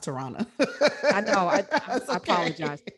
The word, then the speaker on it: Tarana: to say real quick my name is pronounced tirana i know i i